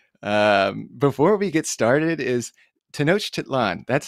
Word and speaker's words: Tenochtitlan: Before we get started, is Tenochtitlan? That's how we pronounce that, correct? Well, actually, nobody knows exactly how it was pronounced, so don't worry about it. And of course, Tenochtitlan is quite good.